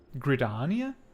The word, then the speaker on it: Gridania: gridenia that's it how would you like to pronounce it gridania i fear it may also prove dangerous however